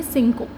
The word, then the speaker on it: cinco: तो फिर से बताती हूँ मैं, CIC सिन, CO को हम प्रोनाउंस करते हैं को, तो इस वर्ड की प्रोनाउंसिएशन होगी सिंको।